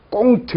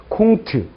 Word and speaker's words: 콩트: 꽁트 이러지 않는다는 얘기입니다. 그래서 이걸 쭉 가운 이렇게 하지 않는다는 얘기예요. 그래서 일상생활에서 발음을 그렇게 하시면 돼요. 가스 가세요. 가스 가세요. 이렇게 하시고 콩트 이렇게 발음하시면 됩니다.